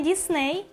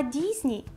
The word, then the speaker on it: Disney: Який вимовляється не Дісней, а Дізні.